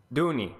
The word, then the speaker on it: Dooney: So how do you pronounce it, by the way? Duoni? Dooney.